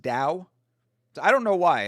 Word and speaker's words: Tao: Well, actually, no, not always that because I was going to say that the the Dao, like when you see Tao, it's pronounced Dao.